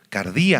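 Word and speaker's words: καρδία: viene la palabra cardíaco cardí con k y acento en la i en griego cardí Y ustedes ya saben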